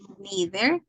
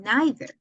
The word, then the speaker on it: neither: either and neither and we have two pronunciation either and either or neither and neither and both are correct either neither either neither correct it doesn't mean that one of them is American pronunciation and the other is British no because people mix it so you can use whatever you want either either neither neither